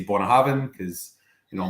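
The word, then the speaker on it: Bunnahabhain: see button or bone but on an Ayla accent is born a heaven so I always say Bona having because you know like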